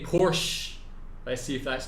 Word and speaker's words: Porsche: In German, we say Porsche. So there's like this short E sound in the end.